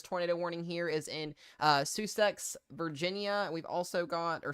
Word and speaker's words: Sussex: Is it Sussex, Jackie? Okay, Sussex.